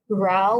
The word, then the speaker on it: WRAO: So our product, WafCharm technology, consists of three components: RAO, which is spelled WRAO, SciNeural, and SciHorse.